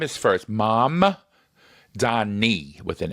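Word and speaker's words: Mamdani: I have to pronounce it right. Right. Zoron Manni. So the M is first. Mam Dani with an N.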